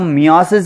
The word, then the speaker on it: meiosis: अब माइटोसिस के बाद सेल डिवीजन का अगला टाइप है मियोसिस। कुछ लोग इसे मायोसिस भी प्रोनाउंस करते हैं।